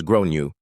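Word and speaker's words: Gráinne: At this point, the alarm bells are ringing in my head because I've realized that the kid is called Grain, generally pronounced as Gronu or thereabouts.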